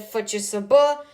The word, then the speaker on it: FCSB: So, next are the Romanian gi giants, FCSB, or as the Romanians pronounce it, Fiser.